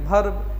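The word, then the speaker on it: verb: हम लोग पढ़ते हैं वर्ब क्योंकि कभी भी इसका उच्चारण भ नहीं होता है व होता है वी होता है तो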